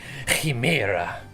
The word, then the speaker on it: Chimera: The C is silent, the I sounds like he. Chimera.